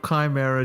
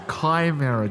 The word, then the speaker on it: Chimera: heard the pronunciation of chimera Jonathan I've told you before it's not Chimera it's Kimera John we've gone this